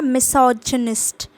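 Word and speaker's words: misogynist: 8th word हमारा मिसोजिनिस्ट। Pay attention इसके pronunciation पे, मिसोजिनिस्ट, जिनिस्ट है, मिसोजिनिस्ट।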